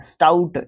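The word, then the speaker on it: stout: स्टाउट क्या होता है, स्टाउट एक शाउट होता है, SHOUT, शाउट, इसका मतलब चिल्लाना, स्टाउट इसी के जैसा प्रोनाउंसिएशन है ना।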